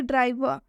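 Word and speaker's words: driver: ठीक है, एक और एग्जाम्पल देखिए, ड्राइवर, ड्राइवर में ये जो आर है इसका उच्चारण अ से किया जा रहा है।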